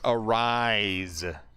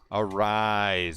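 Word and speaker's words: Arráez: Aaron judge I didn't know his name is pronounced arise arise I like it even better than a raise it's arise I was watching the Twins game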